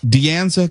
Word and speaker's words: De Anza: De Anza College in Cupertino. De Anza? Yeah. Mm-hmm. How do you spell it?